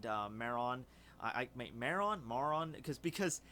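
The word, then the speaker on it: Maron: I make Mara on more on because because 17 called her Marin but then 18 is like it's not Marin it's more on or it's like more with the pronounce with the two syllables I don't [ __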